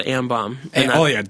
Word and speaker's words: Ambaum: The last mixtape is called Am Bomb.